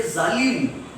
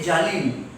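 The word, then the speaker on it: ظالم: If we have to say zalim, they say jalim.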